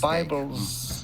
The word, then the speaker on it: Bibles: Bibles. Yeah. You need to say the S, the Z sound, Z, like a Bibles of.